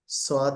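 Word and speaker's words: ص: এগুলো কঠিন কিছু না সদ সিন ছা আমরা পড়েছি এখানে শুরুতে ছাকে আনা হয়েছে আমরা একটু বলি সাকে ছও না ছ মাঝে মাঝে সা সদ সদ সদের উচ্চারণটা একটু কি হবে হেভি হবে আন সদ যা এখানে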